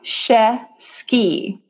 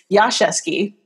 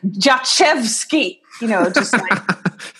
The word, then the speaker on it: Jaszewski: in New York actually I used to say Yasha ski or and I don't know how she saw my name on a credit card or something she goes no your name Josh EV ski so even I was pronouncing it wrong it's so the SZ I thought was an SH sound that's why I said